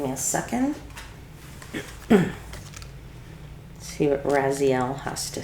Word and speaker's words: Raziel: I pronounce it Raziel.